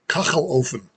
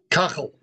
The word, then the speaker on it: Kachelofen: The pronunciation of the word is kachelofen. Kachelofen. Kachelofen. No, kachel. It's very guttural.